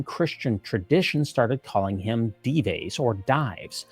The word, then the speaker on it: Dives: The name stuck, and for me, I chose the Spanish pronunciation. Dives became shorthand for someone on the wrong side of a spiritual reckoning.